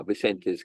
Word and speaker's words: Vicente: What is the pronunciation for that? Vicente? Yeah, Vicente's gift.